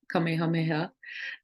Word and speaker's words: Kamehameha: Kamehameha. I was pronouncing it wrong, and my spiritual advisor corrected me.